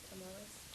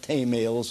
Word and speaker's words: tamales: They taught me how to pronounce the word Tamales. It's not tamales, as I said. It's tamales.